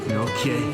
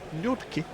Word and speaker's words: Nortje: It's Henrik Nortje. Nortje. That's how I'm pronouncing it. Other pronunciations are available.